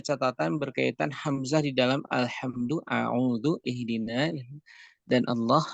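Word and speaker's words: الحمد لله: berkaitan Hamzah di dalam al-hamdulillah dan Allah Disini hamzahnya ada Hamzah di situ dia dibaca dengan tipis dia dibaca dengan tipis jadi ini sebuah catatan tersendiri untuk pengucapan Alhamdulillah nah demikian pula hadir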